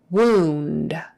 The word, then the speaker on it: wound: the first one wheelchair wound w-o-u-n-d and this particular word oh you is pronounced ooh not ow so wound wound as